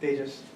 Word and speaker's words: Tejas: Tejas.